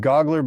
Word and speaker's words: Gaugler: Only thing is he pronounces his last name Gaugler, but no worries, you did great.